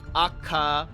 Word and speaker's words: Akatsuki: Pretend the U is barely there. Oh, okay. Yeah, because like the way I would look at the way I look at it phonetically is like Akatsuki, because the TSU from the little bit of Japanese I learned. So I tried to break it up like that. Like, oh, it's Akatsuki, but yeah, it's yeah.